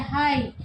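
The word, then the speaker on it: high: 7 में देखते हैं हाई, तो उसमें जी एस साइलेंट है।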